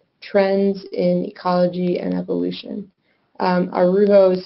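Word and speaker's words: Araujo: Arujo is spelled A-R-A-U-J-O.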